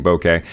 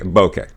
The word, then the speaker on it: bokeh: know where it's like I'm not Mexican so I shouldn't pronounce it that way I should try and americanize it a little bit so I just take it as straight bokeh bokeh and if I